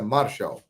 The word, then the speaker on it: Martial: Se escreve Martial, mas a pronúncia francesa é Martial.